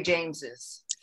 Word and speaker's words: James's: I go by the pronunciation. I mean, you say James's. So yes. James's. It used to be the way it was done. There are some, I forget one now, but there are names that you don't pronounce with the, you know, the second S.